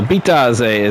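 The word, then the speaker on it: Bitadze: As we're approaching the 3.5-minute mark, Bitaze. And he'll make the first one. So Bitaze, that's how it's pronounced.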